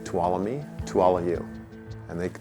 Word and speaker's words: Tuolumne: it's a Native American word so we say to all me to Alla you and they take that home